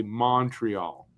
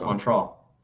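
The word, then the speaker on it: Montréal: if you're not most people will say Montreal and it's just like that no it's Montreal it's Montreal like a u instead of an O if you're from here that's how you say Montreal how do you say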